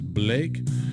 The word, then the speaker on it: Blache: His name is Klaus, that's K-L-A-U-S, Klaus Blache, but notice the spelling B-L-A-C-H-E, but he pronounced it as Blake.